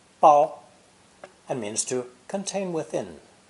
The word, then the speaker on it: 包: This character is pronounced first tone, bao, bao, and means to contain